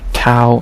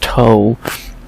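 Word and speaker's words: Tau: As we have in our second fight of episode 2, our third fight of the flyweight tournament, we have Aaron Tao, not Toe, versus, what's his nickname?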